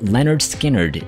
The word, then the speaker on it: Lynyrd Skynyrd: number one simple man Leonard Skynyrd from pronounced Leonard Skynyrd 1973.